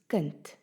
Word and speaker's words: kind: Can you hear that the D at the end of the word is pronounced as a T?